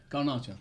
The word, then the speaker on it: Garnacho: How do Get you over pronounce it. his name? Garnacho.